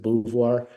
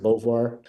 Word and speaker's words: Beauvoir: A lot of people in the South pronounce it Beauvoir. I pronounce it Beauvoir.